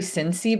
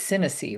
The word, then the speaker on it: Sinise: I just recently, I'm probably gonna say his name wrong because I think I've been saying his name wrong for years, but Gary Sinise, but I think it's Sinise, right?